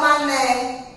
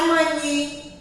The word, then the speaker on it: mané: Olha aqui, ó, o mané. Terminou com E, mas não tem som de I. Não é mani. É mané, porque tem um acento.